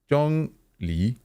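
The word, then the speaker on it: Zhongli: J let me say it right Jong Le Jong Le is an original God we learned right today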